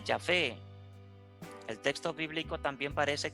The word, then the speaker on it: Yahvé: hace pensar en efecto en la pronunciación de yahvé el texto bíblico también